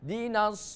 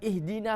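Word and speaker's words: اهدنا: Kalau dibacanya di awal, di tengah kalimat tidak ada suara hamzanya. Contoh, iyyaka na'budu wa iyyaka nasta'inu dinas siratal mustaqim. Bukan ihdina lagi, ya. Tapi dibacanya iyyaka na'budu wa iyyaka nasta'inu dinas siratal mustaqim. Ya. Jadi itu yang disebut hamzah wasol. Jadi kalau di posisi di tengah kalimat hamzanya tidak dilafalkan, tapi kalau di awal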